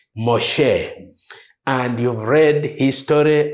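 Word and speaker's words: משה: is the man modest in Hebrew he is pronounced Moshe and you've read his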